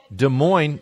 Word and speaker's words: Des Moines: Des Moines who knew Des Moines they have got two S's one at the end of each word and you don't pronounce either get rid of them both naturally get rid of